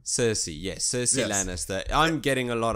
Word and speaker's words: Cersei: Game of Thrones I want to say it gersy Lannister I don't know how to say her name Cersei yes Cersei Lannister I'm getting a lot of cersi Lannister